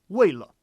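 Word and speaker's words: 为了: And so that's an example where 为 for sure will be fourth tone. 为了, right?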